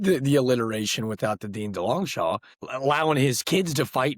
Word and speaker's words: Delongchamps: So technically, it's Delongchamps. Now, pronounced Delongchamps, so I'd be an idiot to forfeit over maybe the world's greatest fantasy football name and Delongchampions over. So no, I'm not going to be the hey, that's not how you say my name, because when you mispronounce it, it sounds way cooler.